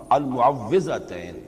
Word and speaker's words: المعوذتین: کچھ مشکل ہوتی ہے، عام طور پر معوذتین یہ غلط العام میں اس کا نام مشہور ہو گیا ہے، لیکن اصل میں المعوذتین واو کے زیر کے، اور اس میں بھی